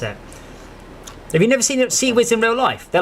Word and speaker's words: CIWS: Pronounce CWIS. So keep Seawiz.